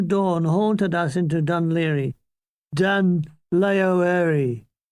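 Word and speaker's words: Dún Laoghaire: Dun-Laoeri. That's the proper pronunciation.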